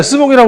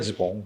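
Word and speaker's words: jupon: 근데 원래는 그 원어는 지봉이에요. 이 바지. 말 탈 때 바지 입었던 거죠. 그 바지, 그걸 보고 일본 사람들이 발음이 안 되니까 스봉이라고 해요. 지봉이에요, 지봉.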